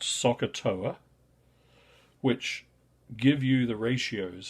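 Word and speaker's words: SOHCAHTOA: there's a useful um set of letters pronounced soccer TOA which give you the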